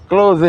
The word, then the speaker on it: clothe: Close ya. Close close. Dibaca close ditulis C L O T H E.